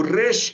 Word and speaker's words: resh: O resh é pronunciado como R, não em português, mas, por exemplo, como espanhol, né? De rato, rato.